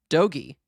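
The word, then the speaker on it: dogie: It's doggy or how the do you pronounce it? Doggy. Doggy.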